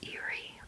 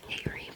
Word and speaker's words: eyrie: So eerie or airy perhaps.